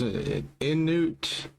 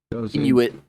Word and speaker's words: Inuit: I mean, but the the in the how do you pronounce Inute? Inuit.